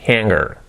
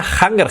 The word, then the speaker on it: hanger: Number 3, pronunciation, hanger. Que no sea hanger. Eh? I need a hanger here. No, I need a hanger here. La H, la que sea ea. Por eso que no sea hanger, pero es hanger. Hanger. Y la R, hanger. Eso sería, ¿ok?